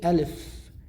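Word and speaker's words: ألف: is first alpha so the first one is alif in arabic we say alif perfect the second one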